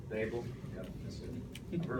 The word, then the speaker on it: Daboll: Yeah, so it's Daboll. D like table, Daboll.